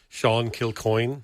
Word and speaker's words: Kilcoin: I'm pronouncing it the Irish way. It would be Sean Kilcoin. That's correct. The best person just the best anybody's ever pronounced it. Well, what's funny is there's a river in the town that I grew up in like in Ireland. It's not called the coin. It's called the Boone, but it it's so I know how that's pronounced. It's spelled exactly the same except a B instead of a C.